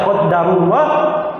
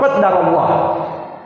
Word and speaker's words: qaddarallah: Jadi kalau mau dibaca qaddarullah tidak boleh ditasdid dalnya qadarullah. Kalau mau dibaca tasdid maka tidak boleh didamah tapi di fathah qaddarallah.